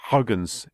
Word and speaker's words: Huygens: the Dutch physicist Christiaan Huygens although it's pronounced Huggins in the Netherlands the Huygens principle of